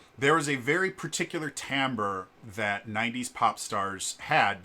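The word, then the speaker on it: timbre: t i m b re e um but pronounced tamber um it's a musical term that basically uh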